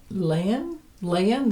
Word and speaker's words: Leyen: Ursula von der Leyen. They pronounce it though like lion. It's spelled Leyen.